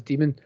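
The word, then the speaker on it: daemon: http and that's demon that's pronounced as demon i don't know why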